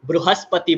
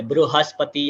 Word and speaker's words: बृहस्पति: बृहस्पतिर्दधातु यहां पर अगेन बहुत कॉमन मिस्टेक है इसको लोग वृहस्पति बोलते बृहस्पति या वृहस्पति अगेन की की मात्रा या ऊ की मात्रा नहीं लगानी हमें स्टे बृहस्पतिर्दधातु बृहस्पतिर्दधातु ऐसा उसका